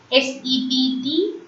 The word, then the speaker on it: sept: SEPT. Sept. P in the middle remains silent. So 7 in French is called sept. HUIT.